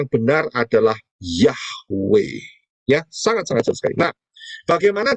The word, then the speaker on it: Yahweh: Kita tidak mau mengikuti aturannya Satan, karena itu pengucapan yang benar adalah Yahweh.